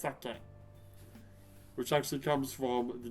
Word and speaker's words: sake: not it's not sucky it's sucky which actually comes from the japanese word osaka